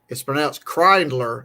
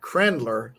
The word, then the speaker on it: Krindler: And it's pronounced Krindler, not Krendler.